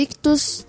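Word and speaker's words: Ichthus: Lembrando que Ictus se escreve I-C-H-T-H-U-S. Então tem dois Hs, tá bom?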